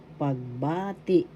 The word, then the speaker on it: pagbati: Pagbati, first syllable pag, second syllable ba, third syllable ti. The second syllable has the accent pagbati, that means greetings.